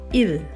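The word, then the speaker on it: île: So it used to be written as ISLE long ago in old French word. So the S was removed. Now you see in the first example, an island, the word is il, pronounced il.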